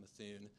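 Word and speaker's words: Mithun: around for 75 years that is how you pronounce the firm methun uh we've been through roughly four to five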